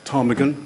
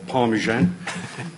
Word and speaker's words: Ptarmigan: you Peter um and Peter did pronounce it correctly it is is in fact Tagan not parmesan and is a Hardy